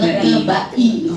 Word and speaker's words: Lekebai: Kata Mbak Eri bacanya Lekebai.